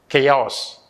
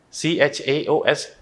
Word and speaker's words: chaos: screen you could see that it's a vibration chaos okay that is how it is pronounced actually chaos c-h-a-o-s chaos i'll show you that how you have to